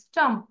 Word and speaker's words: stomp: এম এর উচ্চারণটা হবে স্টম্প, স্টম্প, স্টম্প।